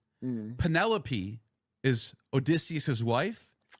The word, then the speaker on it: Penelope: In in Homer's Odyssey, Penelope is Odysius's wife. That's how you say it. I call it pen I've been calling her penaloop.